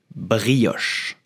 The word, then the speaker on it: brioche: how to pronounce it we will say brioche brioche I repeat brioche brioche so if you cannot say the air like the French do you can also say brioche it's not perfect but it's already good